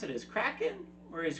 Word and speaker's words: Kraken: The argument between Pintel and Righetti over the proper pronunciation of the monster's name comes after the writers, who intended for it to be pronounced as Kraken, first heard Kevin R. McNally pronounce it as Kraken.